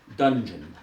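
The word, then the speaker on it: Dunjun: The train is some distance from here in the mountains of Colorado in a small enclave called Dungeon, though they spell it D-U-N-J-U-N.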